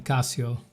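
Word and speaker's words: Cassio: Casio like the calculator? Yeah. Pronounced the same but with one s.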